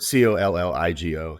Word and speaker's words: Colligo: It's a double L. It's a Latin word, Colligo.